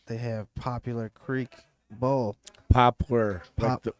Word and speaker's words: Poplar: have popular Creek Bowl Poplar like the tree yeah like the tree not popular but p-o-p-o-a-r thank you not that